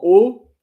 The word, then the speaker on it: haut: Il y a des objets en haut de l'armoire. On top of the on the furniture. En haut, en bas. Haut and bas, the H, by the way, are not pronounced.